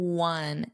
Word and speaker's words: one: It's the same as we won the game, which is spelled w o n.